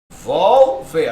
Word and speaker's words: revólver: ó, se eu separo, revólver, até o final da aula aprenda a usar esse negócio, tá? Revólver, perceba, a sílaba tônica não é a última, não é o ver, percebe? Olha lá, não é o ver, então ela não é oxítona, tá fora. Ó, revólver é a penúltima.